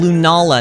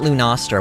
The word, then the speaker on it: Lunala: you go uh oh and lunala not lou noster wait who's lou nostra